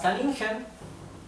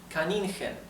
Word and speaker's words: Kaninchen: So let me tell you now that CH in German is pronounced right? It's similar to the English H, but rougher, right? It's more rough. The German H is pronounced the same as the English H, but the German CH is much more rough.